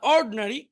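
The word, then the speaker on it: ordinary: আবার দেখি, অ্যাটেন্টিভ মনোযোগী, ইনঅ্যাটেন্টিভ অমনোযোগী, ইন্ডাস্ট্রিয়াস পরিশ্রমী, আইডল অলস, এডুকেটেড শিক্ষিত, ইগনোরেন্ট অশিক্ষিত, ইন্টেলিজেন্ট বুদ্ধিমান, অর্ড এখানে আইটা উচ্চারণ হবে না, অর্ডিনারি সাধারণ।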